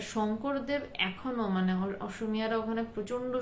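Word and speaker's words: শঙ্করদেব: প্রচন্ড তন্ত্রের ব্যাপার এবং যে হংকর দেব বলছে একচুয়ালি শংকর মানে অসমিরা সকে হ বলে উচ্চারণ করে তো শংকর দেব এখনো মানে অসমিরা ওখানে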